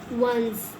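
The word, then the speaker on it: once: हम पढ़ रहे हैं ओ एंड सी ई को वंस क्लियर हो गई बात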